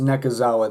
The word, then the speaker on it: Nekozawa: His last name's pronounced Nekozawa though, and they always call him Nekozawa, so I'm gonna call him Nekozawa.